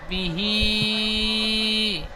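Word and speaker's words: بِهِ: হা খাড়া জের হি, বানান করলেন বাহি, বাহি নয়, বাজের বি পড়েছেন, তাহলে এই উচ্চারণটি হবে বাজের বি। বি, তারপরে বিহি, বি টান হবে না, বাজের বি।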